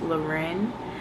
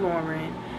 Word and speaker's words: Loren: on my channel, so my first name is pronounced Loren. So I don't really know how to tell you how to pronounce that, rather than just saying my name is Loren. You could try like Lorenzo without the zo. Like, it's not Lauren, it's not Lorraine, it's not none of that, it's Loren, and I'll correct you every time.